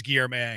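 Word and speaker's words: Guillorme: Almost everybody thinks it's gear. And it's Gear, May.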